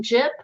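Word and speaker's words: Jipp: pages full of thoughts my name is jip last name is spelled j-i-p-p uh go ahead and check it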